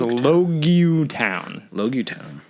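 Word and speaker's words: Loguetown: Well, it's spelled Logtown. When you read it, it looks like Logtown. Logtown, which is how I thought it was spelled. But of course, it's pronounced Logutown. Logutown.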